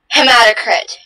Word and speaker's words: hematocrit: Am I saying the word right? Can you say it again? Hematocrit. Sounds right.